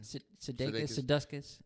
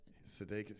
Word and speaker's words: Sudeikis: Sudeikis. Sudeikis.